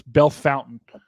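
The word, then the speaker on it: Bellefontaine: mispronouncing this but uh Ohio has a Bel well it's it's spelled similarly but it's Bell Fountain so every I feel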